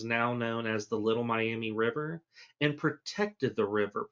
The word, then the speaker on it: Miami: So some people say that going all the way back to the indigenous people of Southern Ohio, specifically the Miami, or I've also heard it pronounced the Miami people of Southern Ohio, and